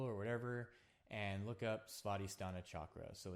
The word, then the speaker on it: Svadhisthana: duck.go or Google or whatever and look up spotty stana chakra. So it's spelled s v a d h i s t h a n a spotty stana and then chakra c h a k a.